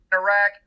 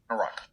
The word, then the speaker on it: Iraq: pronounced this place named conservatives were more likely to use the trap valve Iraq while liberals were more likely to use the lot foul rock a pronunciation closer to